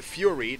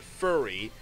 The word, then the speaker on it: Fury: The Fury, not to be pronounced the Furry.